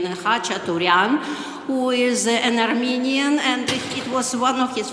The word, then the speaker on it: Khachaturian: I sometimes mispronounce it, but I will pronounce it in the Ukrainian, Khachaturian, who is an Armenian,